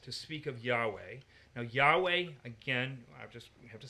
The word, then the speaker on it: Yahweh: that make up the word Yahweh if you pronounce it yah way you are saying he who causes to be